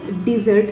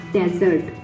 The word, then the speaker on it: dessert: We call the sweet, the kind of sweet we took after the dinner, that is called dessert and not desert.